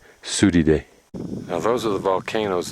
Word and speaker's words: Surire: its a whole bunch of Reas down there pronunciation is sui day sui day now those are the volcanoes that we were